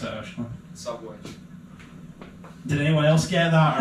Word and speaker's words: Szabolcs: Szabolcs. I hope I'm saying your name right there, mate. Is that right? Close enough. Yeah. How do you pronounce it, Ash? Szabolcs.